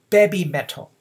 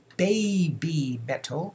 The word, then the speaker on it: BABYMETAL: see this you just lengthen the vowel in this case e vowel e e okay b b met okay so as you see here heavy heavy metal and baby metal are almost identical in pronunciation as well as writing okay writing okay and